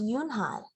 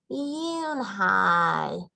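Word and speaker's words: Unhei: turned to joey she nodded slowly yes it's pronounced yoon hai and it means grace mr kim added yoon hi joey said slowly and this time perfectly it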